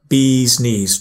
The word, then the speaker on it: bee's knees: Bees, pronounce the E with the vowel E. Yeah, I said I, should be E. Bee's knees. Try again.